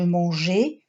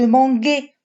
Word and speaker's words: mangeais: Pourquoi on a rajouté le E? Très bien, pour ne pas prononcer je manguais, tu mangas. D'accord? Parce que le G et le A, comme on l'avait déjà vu à l'orthographe, se prononcent ga. Et on rajoute le E pour prononcer le son je, sauf au troisième personne du pluriel parce qu'il y a un E.